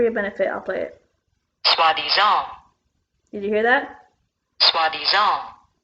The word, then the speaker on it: soi-disant: I already know how to pronounce it, but for your benefit, I'll play it. Soi-disant.